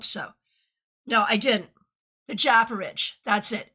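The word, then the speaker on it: Japaridze: The Japarage.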